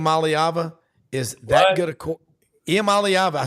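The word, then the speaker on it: Iamaleava: think Nico IAM malava is that good a IAM alava I said it right I've been working on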